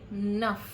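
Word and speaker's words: नः: While writing the Gayatri Mantra, we write Nah with a H sound. But while speaking the Gayatri Mantra, you will say Naf.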